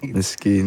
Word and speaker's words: Miskeen: So, Correct pronunciation, Hassan? Yeah. Co-sign that, please. Miskeen, right? Miskeen, yeah.